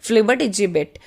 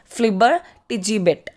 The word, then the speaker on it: flibbertigibbet: So this word is written over here and its pronunciation is flibbertigibbet. So just be careful with its pronunciation. It's flibbertigibbet.